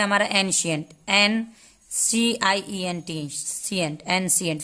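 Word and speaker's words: ancient: अब दूसरा वर्ड है हमारा एंशियंट, NCIENT, सियंट, एंशियंट। फिर यहाँ पे सी को हमने सौ पढ़ा क्योंकि सी के बाद आई है, ठीक है।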